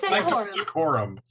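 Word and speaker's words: Sanctum Secorum: Now, I've listened to Sanctum Seccorum. I can never say it right. Say it. Sanctum Seccorum.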